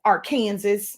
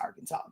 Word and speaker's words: Arkansas: North Carolina Alabama um I know it's not pronounce this way but I like to pronounce this way Aransas but Arkansas uh incredible morning I